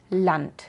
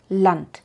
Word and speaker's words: Land: La D al final de palabras y sílabas incluso puede sonar casi como una T, de verdad una T alemana, como en Land, Land, porque es difícil hacer